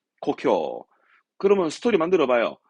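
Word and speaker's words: 故郷: 고향 발음은 고쿄. 고쿄.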